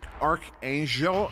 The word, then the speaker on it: Archangel: just so you're aware it's pronounced archangel angel that the g is a soft g uh and this is